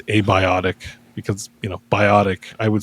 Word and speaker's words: abiotic: So abiotic is how I pronounce it because it's like a bee's dick, abiotic.